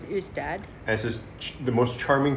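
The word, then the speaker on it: Ystad: we drove down south to a place called usted which is spelled istan with a Y but it's pronounced ustad this is the most Charming Town you'll ever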